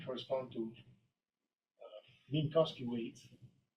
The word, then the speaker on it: Minkowski: The elements of A star M, or the Chow ring of M, correspond to Minkowski weights. W or V? W, right? But pronounced V.